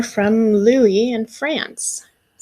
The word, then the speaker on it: Louis: first name is louis in english you might pronounce my name as lewis but here in france people pronounce my name as louie i'm in the third